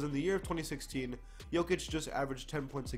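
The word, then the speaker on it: Jokić: I said it right this time. Not Jokic, Jokic. I got it right, I promise.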